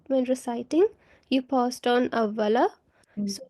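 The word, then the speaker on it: أَوَّلَ: Okay, so when I think when reciting, you paused on awwala. So when pausing, this fatha on lam changes into a sukoon. Okay, so if Oh, you okay, so it becomes awwal.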